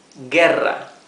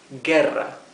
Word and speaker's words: guerra: The U is mute. So this is guerra or war, guerra.